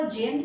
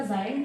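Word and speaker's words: giant: कोई इसको जेंट कहता है, कोई जायंट, वैसे तो इसका जायंट प्रोनाउंसिएशन है।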